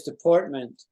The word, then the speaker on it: deportment: a kind of an opposite the word is deportment Isn't it nice deportment Department deportment say you said goodbye you said a